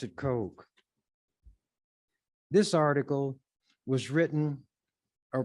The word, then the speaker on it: Koch: who has that as a name Coke some cook others CCH but the CES pronounce it Coke this article was written or published October the